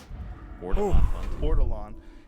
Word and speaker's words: ortolan: How do I pronounce it? Ortolan.